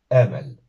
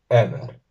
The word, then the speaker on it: emel: Emel. Emel o Emer. Emer. Al igual que en el caso anterior, la tónica va a recaer en la primera sílaba.